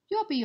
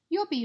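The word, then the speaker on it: lluvia: need to remember that we've got our Double L at the beginning making our u sound and then the V which we pronounce as a B good work let's move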